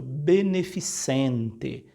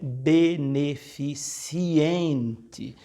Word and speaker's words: beneficente: é um chá beneficente Esse é um evento beneficente não é beneficiente como as vezes algumas pessoas pronuncia então quando você for